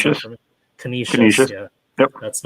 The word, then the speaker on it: Canisius: Prep at McDowell, and Erie at can you pronounce that for me? Canisius.